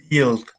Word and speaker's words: built: why the pronunciation is built built yes so basically we omit the u so the u doesn't sound in there so it's delta what